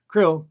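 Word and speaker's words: KRLL: captivity k-r-l-l or k-r-l-l-l or c-r-l-l or c-r-l-l-l pronounced krill or krill was the hostage left with us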